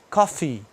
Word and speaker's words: coffee: Então o café você fala coffee, tem que pronunciar o izinho, né?